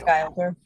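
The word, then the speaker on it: Guilder: How did you pronounce this? Gilder? Yeah. Dennis Gilder.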